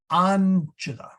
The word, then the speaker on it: Angela: So we had a discussion on the stressed syllable of Angela. Okay. It really is on the front and then chilla.